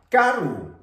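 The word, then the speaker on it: karu: Por ejemplo, la palabra carru. Carru, que significa lejos. Carru. Escuchamos claramente de esta manera.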